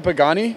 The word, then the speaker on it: Pagani: Is that how you pronounce it, a Pagani?